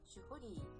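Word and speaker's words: 守破離: You know, in Japanese it's actually pronounced Shuhari.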